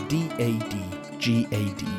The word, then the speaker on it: DADGAD: My guitar is tuned to D A D G A D, pronounced 'dadgad'.